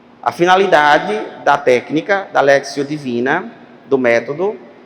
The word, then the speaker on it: lectio: c t i ó literalmente assim se for pron fica Le Mas você pronuncia lexio l e c t